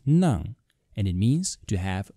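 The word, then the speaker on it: 齉: It is pronounced nang, and it means to have a stuffy nose.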